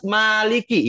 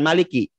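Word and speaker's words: مالك: Kalau yang hafaz maliki ya dibacanya, bukan maliki. Ya. Bukan dibaca pendek, tapi baca panjang.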